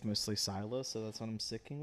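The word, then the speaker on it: Scylla: So, it's pronounced either Sila or Skyla depending um modern day it's mostly Sila.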